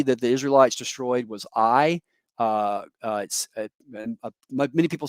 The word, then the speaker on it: Ai: the second city that the israelites destroyed was i uh many people say ai but i'm told by my colleagues in israel